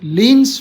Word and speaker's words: Klein: एक very important group है ये, लीन्स फोर ग्रुप। लीन क्या है कि साइंटिस्ट का नाम है, KLEIN, है ना। लीन कहते हैं, के साइलेंट है इसमें, क्लीन नहीं कहेंगे। लीन्स 4 ग्रुप, 4 इसलिए